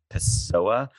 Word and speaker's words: Pessoa: on the poet Fernando Pessoa, who was so intimidating to me. I don't even know if I said his name right. Is that how you say it? Perfectly.